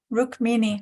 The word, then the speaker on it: Rukmini: Yeah, It rhymes Rukmini. with zucchini, though. Rukmini rhymes with zucchini.